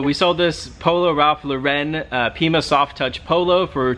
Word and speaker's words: Lauren: We know that it's Lauren, but we like to say Lauren. And we will continue to say Lauren. So we sold this polo Ralph Lauren Pima soft touch polo for 25 bucks, $24.77.